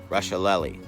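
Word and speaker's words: Rusciolelli: L e ll I it's pronounced SpaghettiOs nope Russia lolly and no one can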